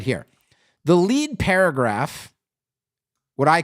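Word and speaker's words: lede: Then it's lead, L-E-D-E. You misspelled lead. No, I didn't misspell lead. Like, L-E-D-E is a journalist term. And it's a very specific journalist term.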